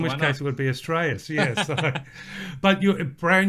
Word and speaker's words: Astraeus: In fact, that's how most people are pronouncing it. I call it Astraeus, but both are correct.